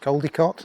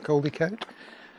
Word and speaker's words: Crowdecote: It's pronounced Crowdecote, not Crowdecote. Here is the Pack Horse